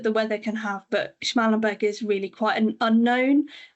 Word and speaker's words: Schmallenberg: And I guess a relatively newer one on, I'm probably going to get the pronunciation wrong here, on the Schmallenberg.